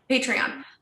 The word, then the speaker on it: Patreon: a patron group is is it patron or patreon patreon listen you guys already know um okay can you tell us what our patreon group is yes so